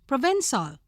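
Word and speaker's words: Provençal: at them Beyond tomorrow Provencal pronounced Provencal of the District of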